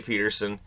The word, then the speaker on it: Pettersson: of a big deal when I was saying Peterson. People were getting mad at me when it was Pettersson who wanted people to say Peterson. And it never caught on because people flat out refused.